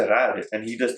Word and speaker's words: cerrar: That's not how you say it. You're supposed to say cerrar."